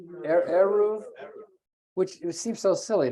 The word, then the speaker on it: Eruv: And not just that, getting preferential treatment for, how do you pronounce it? Eruv or Eruv? Eruv, which it seems so silly, doesn't it?